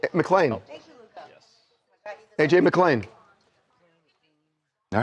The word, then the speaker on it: McLean: Do you know how to pronounce his last name? McLean.